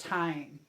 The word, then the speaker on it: thyme: It looks like thime, but it is pronounced thyme.